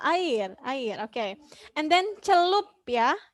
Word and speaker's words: celup: And then celup. Yeah, it should be celup, not celap. Celup.